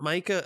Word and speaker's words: Micah: uh i'm sorry nathan i won't i will forgive the mic because that's how it's spelled continue that's how i've got it in my notes i should have written it m-e-e-k-a-h um yeah yeah but